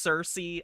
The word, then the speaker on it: Circe: Circe, it's pronounced Circe.